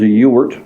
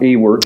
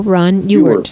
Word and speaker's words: Ewart: So the spelling is the spelling is E-W-A-R-T, but the pronunciation is as if it were a U. Ron Ewart.